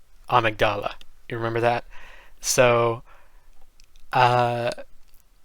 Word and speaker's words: Amygdala: am aware that in english the word is pronounced amygdala but in the game there is a voice actor who says this boss's name and they say it like amigdala you remember that so uh this boss i